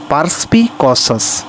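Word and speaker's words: perspicacious: এর উচ্চারণটা প্রকৃত উচ্চারণ হবে পারসপি কসাস।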